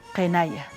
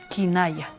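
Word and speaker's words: qinaya: Kenaya. Nube en Aymara, kenaya. No Kinaya, Kenaya, con E, ya le dije, en escritura no hay E, pero sí en la pronunciación, Kenaya.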